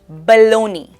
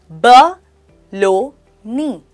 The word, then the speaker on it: baloney: Baloney, pronounced as ba-lo-ni. The stress is on the second syllable.